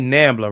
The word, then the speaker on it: NAMBLA: NAMBLA, right?